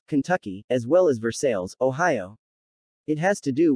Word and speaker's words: Versailles: for the towns of Versailles, Kentucky, as well as Versailles, Ohio. It has to do with the choppy way the early Scots settlers in all three of these towns tended to emphasize second syllables over the first.